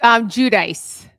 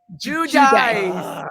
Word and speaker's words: Giudice: Teresa, is it Giudice? Did I say it right? Giudice. Giudice. Yes, Like Giudice. justice.